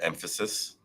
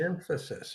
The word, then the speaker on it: Mphasis: and the company's pronounced emphasis is the emphasis without the e emphasis okay emphasis that makes